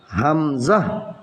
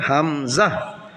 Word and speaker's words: হামজা: এরপরে হলো হা, এটা হলো পড়েন আমার সাথে হা, হা, হা এর পরের অক্ষরের নাম হলো হামজা, হামজা, এটা টেনে পড়তে হবে না, এটা এভাবে উচ্চারণ হবে হামজা, হামজা।